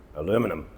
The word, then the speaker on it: aluminum: Well, it depends where you're from. I'm British, so I say aluminium. But Americans pronounce it aluminum. Aluminum. Aluminum. American. Aluminium. Aluminium. British. Which one do you say? Drop it in the comments down below. The correct one is aluminium.